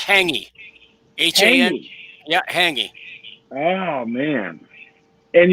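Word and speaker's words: hāngī: has said that that haggy is food that is buried and cooked in the ground is it right oh hanging it's pronounced hangy yeah hanging oh man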